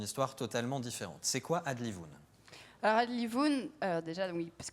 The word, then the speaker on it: Adlivun: C'est quoi Adlivoun? Alors Adlivoun, déjà oui, parce que le titre est pour beaucoup compliqué à prononcer, donc on dit bien Adlivoun.